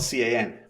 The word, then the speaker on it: Can: My name is spelled C-A-N, but it's pronounced Can.